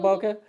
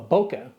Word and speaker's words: bokeh: of Boca no well Boca is derived from a Japanese transliteration of a word Boca that kind of means